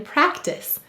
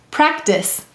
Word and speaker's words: practice: double underline the e why do we have a silent e in practice the c softens to s because of the e excellent let's read it it's practice what would it say without the e it would say practic but with it practice the next word is